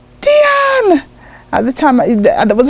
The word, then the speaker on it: Deanne: Because on my passport, it said Diane, because it was spelt the French way again, but it pronounced Deanne. So at school I was Diane, Diana.